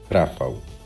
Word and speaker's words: Rafał: You can Adam, say my name in Polish to It's to Cobra. Rafał. Rafał. Yeah, it's the correct pronunciation.